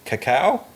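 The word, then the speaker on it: Kakao: He also banned ads from global competitors including WeChat and Cacao. Is that Caca? Yeah. um uh because it reads like chocolate Easter theme there but it's spelled with a K uh like Kayla uh which he considered emerging rivals.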